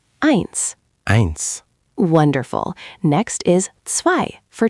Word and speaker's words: zwei: Zwei. Try zwei. Zwei, meaning pronounced zwei. Almost there, Devendra. Remember, it's not quite an S sound. Think of it like the ts in cats.